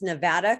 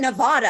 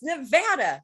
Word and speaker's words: Nevada: You're one of the few that aren't from here that pronounce Nevada correctly. People want to call it Nevada, and I'm like, no, it's Nevada.